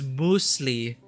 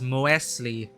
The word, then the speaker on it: muesli: of funny like uh i'm pronouncing it as muesli because one of our german friends kept insisting it as a muesli and another german friend kept joking around that is moesley it's just it's just